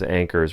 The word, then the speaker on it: Ankers: Everybody in the family pronounced her last name as Ankers, rhymed with anchors.